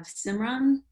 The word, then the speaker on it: Simran: you and last but not least we have simran hopefully i pronounced that correctly oh yes you did thank